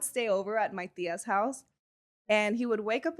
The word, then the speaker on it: HAOS: It sounds different and it's H A O S we pronounce it House and it's very personal because it's actually the initials of the four of us.